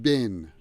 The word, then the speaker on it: been: know how busy i've been b-e-e-n is pronounced as bin in american english and somebody said the